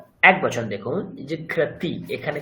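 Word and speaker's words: জিঘ্রতি: জিগাতহ একবচন দেখুন জিগ্রাতি এখানে কি বিসর্গ আছে বিসর্গ নেই তো কাজেই এখানে হকারের কোন উচ্চারণ আসবে না তো জাস্ট জিগ্র জিগতা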